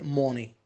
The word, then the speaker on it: money: Don't say money. Ma. Between O and A.